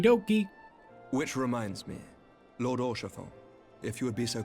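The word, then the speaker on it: Haurchefant: Which reminds me, Lord Orchefon, if you would be so kind. Wait, that's how you say his name? I'm gonna still call him Harkifon.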